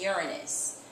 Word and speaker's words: Uranus: of ice and rock in its own orbit Uranus I know you have heard it being called uran braus in the past but the correct pronunciation is Uranus Uranus looks blue green because of the methane